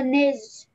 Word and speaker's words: nez: Un gros nez. Un gros nez. Nez. Un gros nez. On ne prononce pas le Z.